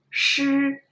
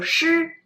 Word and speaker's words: 诗: But then 诗, 诗, 诗. Actually, it's not from your throat, it's from your mouth, it's from the air.